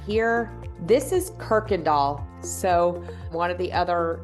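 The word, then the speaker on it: Kuykendahl: right here this is Kirkendall so one of the other YouTubers called it Kendall or something like it's Kirkendall is how you say that word just so you know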